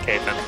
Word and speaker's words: Kathan: Is that how you say his name? Is it Kathan? Yeah. Oh. I know how it's spelled, but it is Kathan.